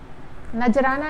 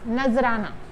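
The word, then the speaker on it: نذرانہ: मतलब, नजराना, नजराना नहीं होता है, नजराना।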